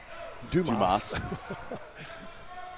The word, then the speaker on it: Dumas: Pronounced Dumas. As opposed to the way it's written, from Stockbridge.